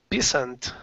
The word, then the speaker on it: peasant: It really looks like peasant, but it's pronounced pe, and then the S sounds like a Z.